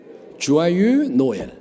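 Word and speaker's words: Joyeux Noël: 프랑스 프랑스어는 발음이 좀 어려워요 주아가 아니라 사실 발음이 좀 어려워 주아유가 아니라 주아유 노엘 소리가 확실히 작죠 어려우니까 자 주아유 노엘 프랑스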